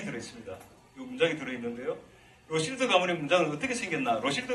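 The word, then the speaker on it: Rothschild: 어 샤 라데 로실드 로드는 우리나라에서는 로스차일드 전에 그 기업 유대인 기업이죠 그죠 있었는데 유대인 기업인데로 이 로실드 발음합니다 그래서 어 그 어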